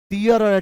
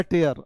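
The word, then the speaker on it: tear: लिए यूज होता है इसका उच्चारण टियर नहीं कगा और कोई रो रहा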